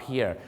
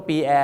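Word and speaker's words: pier: มัน เพีย ครับ ผม p i e r pear เรา ออก เสียง ว่า เพีย นะ ครับ บาง คน นึก ว่า ปี แอร์ น มัน ชื่อ คน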